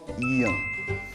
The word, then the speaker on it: 이응: When 이응 is at the bottom, it has kind of like a ng, the English ng sound.